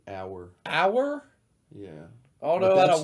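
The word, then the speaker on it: Auer: Got a blue Mason Ayer? It's pronounced like hour.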